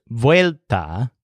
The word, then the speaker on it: vuelta: or chase its tail the word vuelta with a stress on whale whale 'te means return but